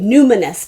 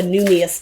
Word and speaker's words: Numinous: It's called the Numinous deck. I always call it the Numius deck.